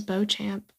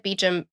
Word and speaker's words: Beecham: I thought it was Beauchamp. They said Beecham in the disappeared.